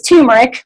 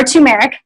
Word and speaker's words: turmeric: the last word is too much or tumeric either ways fine pronunciation and it looks like